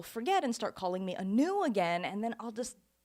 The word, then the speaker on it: Anu: I go by Anu for short.